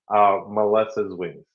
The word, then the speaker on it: Melesa's Wings: Melesa's Wings. Oh my goodness. Yeah, that was a burn. It's actually you were close. Yeah, a lot of people think it's Melesa.